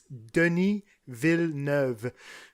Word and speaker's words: Denis Villeneuve: So, yeah, if you guys really want, just a little diction class on how to say his name, it's Denis Villeneuve. Villeneuve. So that's the way you say his name, Cool.